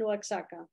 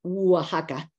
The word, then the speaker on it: Oaxaca: We say Oaxaca. And, You pronounce Oaxaca, you pronounce Oaxaca. Okay. Oaxaca. The X in Spanish in Mexico can be pronounced as X, as J, like my name